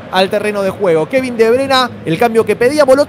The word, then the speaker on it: De Bruyne: ¿Cómo lo pronuncia el apellido del KDB, compañero? Kevin De Bruyne. Está bien, está De bien. ¿De Bruyne le dice usted? De Bruyne.